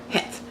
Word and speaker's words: Het: And then this is the Hate. That one right there is tricky because that's the one. It's a guttural sound, so it's kind of like rolling at the back of the tongue, like Bach. Het.